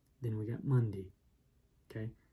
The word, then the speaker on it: Mundi: sundi then we got mundi okay but mind you sunday is spelled s-u-n-d-i monday is spelled m-u-n-d-i so we got sundee and mundy and you'd think maybe